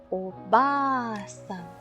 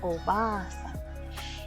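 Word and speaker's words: おばあさん: En el caso de sobo, pues ya no es sobo, sino que es oba-san, que también es de los que hemos escuchado bastante. Oba-san.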